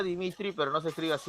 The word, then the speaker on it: Dmitri: aparato está la memoria están la rueda se pronuncia dmitri pero nos escribas y dmitri así de metro